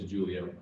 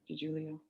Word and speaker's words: DiGiulio: Special Agent DeJulio, correct. DiGiulio.